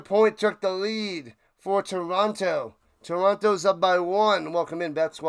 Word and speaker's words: Toronto: Don't pronounce the second T in Toronto. Toronto.